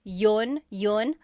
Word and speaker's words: iyon: You might hear people say, ginawa ko iyon dahil mahal kita, but usually the letter I sound is dropped.